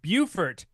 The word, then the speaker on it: Beaufort: Buddy Campbell from Beaufort, South Carolina. Not Beaufort, South Carolina. Don't mispronounce that.